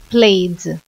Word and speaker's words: played: passado do verbo Play played a pronúncia é como se fosse só o d tá bom they played